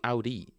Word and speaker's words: Audi: Americans say Audi. Audi. Audi. But my French Canadian friends say, "Oh, the French Canadian." I wouldn't ask any pronunciation tips from Quebec. They I don't know what kind of French they speak there, but it's not it's not normal. It's not normal. Um, yes, they would pronounce oi oi. It's so funny. It's odi, but they say og.